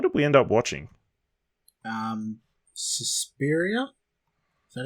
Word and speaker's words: Suspiria: Suspiria?